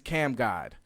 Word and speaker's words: CamGod: But JamVisions, CamGod.